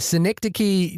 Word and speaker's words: Synecdoche: But it was the cause of much hilarity a la Matt and Shahir, where I kept on mispronouncing it. But Synecdoche, New York is a beautiful, beautiful film that is very difficult to watch.